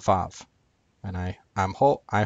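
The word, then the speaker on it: וו: the Hebrew letter that in ancient Hebrew made a w sound instead of in modern Hebrew which makes a v sound because it's pronounced VAV instead of W uh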